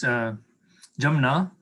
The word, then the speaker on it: Jamna: It's pronounced two ways, Jamna, if you're speaking Hindi in that way, yes, a little more formally. So it's the Ja is the vernacularization of the Sanskrit Ya.